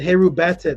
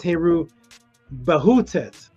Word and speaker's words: Heru Bahutet: You said Heru Batet, but it's Heru Bahutet.